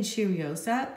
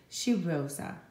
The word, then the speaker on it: Cheirosa: today of Seoul now I'm saying cheeriosa because I think it's so fun to say Cheerios up I think it sounds like a really cool thing to say but then I looked at the pronunciation and this is Portuguese so I hope I'm saying it better now and I looked it up and I think as she Rosa something like that so anyway I enjoyed